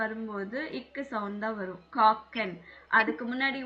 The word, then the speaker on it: kochen: KOCHEN. காக்கன். But mostly CH வந்தா இஷ்ன்னு தானே ma'am pronounce பண்ணுவோம். அது எல்லாத்துக்கும் வராது. எந்த இடத்துல இஷ்யூ வரணும், எந்த இடத்துல இக்கு வரணும் போக போக தெரியும். இங்க வந்து காக்கன்.